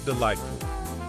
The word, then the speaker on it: delightful: Which letters in delightful are silent? Think about which sounds you do not hear. The correct answer is G and H.